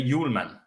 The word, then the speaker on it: Hjulmand: So but you don't speak the H, and you say Hjulmand.